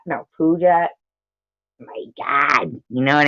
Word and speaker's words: Puget: I had to learn how to pronounce it. Puget? No, Puget.